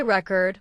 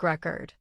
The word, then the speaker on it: record: noun, like a music record. But if you say record with stress on the second syllable, it becomes a verb, like I record a video.